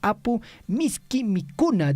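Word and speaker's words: Apu Miski Mikuna: 2024 acá por ejemplo se nota claramente no el quechua chanca no apu misk mikuna dice así es digamos la pronunciación correcta No bueno Esto se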